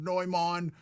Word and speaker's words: Neumann: And that was and everybody's like, that's the actual way you're supposed to say it. That's the official pronunciation of Neumann.